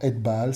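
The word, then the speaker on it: Ethbaal: Alors, Et-Baal, ça s'écrit E-T-H, petit espace, B-A-2-L, Et-Baal.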